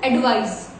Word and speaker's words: advise: This is S, advice, alright, and this is Z, that is Z. So advice and advise.